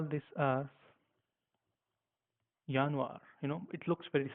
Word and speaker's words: Januar: we have slightly different we call this as yanir you know it looks very similar except why we call it as yanir as we know that J is pronounced as